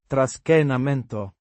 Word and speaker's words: Trascinamento: Trascinamento means dragging or pulling. It describes the action of moving something by holding and pulling it. Pronounced tras-chee-nah-men-toh. with the stress on the. Che.